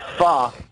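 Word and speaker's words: pho: Oh, but it's not pronounced. Not Japanese. It's not It's um Well, it's f. It's not faux people call, but it's really fo is what people You can call it fo, but it's really called fa.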